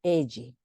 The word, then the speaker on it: elle: Ahora se pronuncia elle, ¿sí?